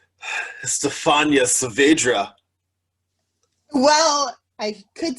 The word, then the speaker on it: Estefania: that they go with estofania but my name is estefania like how do you pronounce it yeah yeah it's kind of like stephanie with the uh at the end oh so close well